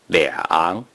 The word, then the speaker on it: 两: a major word or when the number 2 is used,to describe the amount of something, no matter if the following character is the first tone, the second tone, the third tone, the fourth tone, or the neutral tone. The number 2 is pronounced 两.